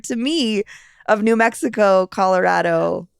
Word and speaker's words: Colorado: that that ties into this Colorado versus Colorado thing yeah um where where Colorado is a much more Anglo pronunciation of this word right because the the vowel in Spanish is a right so it it